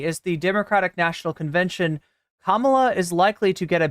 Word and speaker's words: Kamala: Harris still at 226 the 30 elector votes pronounce her name right Kamala are you having trouble with the pronunciation csom